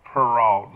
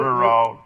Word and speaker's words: Peralt: Peralt, not Renault, but that car. I want to think of that car, exactly. Renault. Sounds Peralt. pronounced the same.